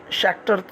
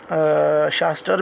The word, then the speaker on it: Schachter: है that is called शाक्टर singer ही हम इसको पढ़ते हैं। वैसे शास्टर भी हम पढ़ते रहे इसको, लेकिन आप प्रोनाउंसिएशन चेक करें तो शाक्टर मोस्टली आपको मिलेगा। तो शाक्टर सिंगर थ्योरी हमें